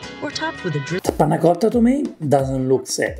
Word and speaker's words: panna cotta: Today I'm going to share with you how to make panna cotta. It's an Italian dessert. It sounds complicated, but it's so easy. I like your pronunciation. Panna cotta.